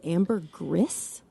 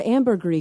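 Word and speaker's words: ambergris: But of all, but really you guys always heard it as amber gris. Yeah. Yeah. You've always heard amber gree because it's from the French. It means gray amber.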